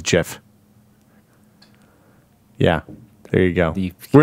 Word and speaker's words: GIF: you've gone full circle I'm pretty sure it's Jeff is what is where I stand cuz that's what the that's the original compus serve uh CompuServe original pronunciation was JF yeah there you go